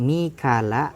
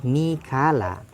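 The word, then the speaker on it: ميكال: Wa Mikailu, dan adapun nama Mikail, qara'a Abu Amr membaca Abu Amr, dan juga Hafiz, Imam Hafiz, Mikala akan lafaz Mikala. Jadi ada yang membaca Mikala seperti bacanya Abu Amr dan Imam Hafiz. Bi ghairi hamzin, dengan tanpa tambahan huruf hamzah.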